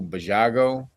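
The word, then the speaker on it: Basiago: Now this dude, I think his name is Andrew Bajago. I think, but you spell it like Baziago.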